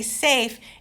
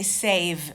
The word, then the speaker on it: safe: When you say to someone, stay safe, it's with an F. With an F, not stay save with a V.